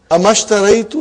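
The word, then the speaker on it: أما اشتريت: Anything comes before it, you will not pronounce the hamzatul wasal. So we have here ma. How will you say now? Mashtaraitu. Amashtaraitu laka daftaran fil usbu al maadi.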